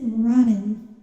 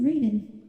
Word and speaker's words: Raiden: So the guy pronounced it rotten, and then you went, it's not pronounced like that? And I was like, Raiden, that's Raiden, you pronounce it Raiden.